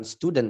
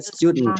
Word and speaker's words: student: Nah, ini bacanya bukan student sebenarnya. Bacanya student. Student. Stud student. Student. Student bukan student. Stud student. Student. Student. Nah, itu Amerika tuh.